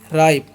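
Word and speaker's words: ripe: आर आई पी ई राइप आई का उच्चारण यहां पर आई होता है। लास्ट वाले का उचन नहीं करना है।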